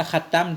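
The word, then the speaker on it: خاتم: Bi fathit ta'i, bacanya khatam dengan fathah ta.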